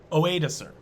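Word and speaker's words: Odoacer: At the same time, this is a hard one to pronounce. Oedacer.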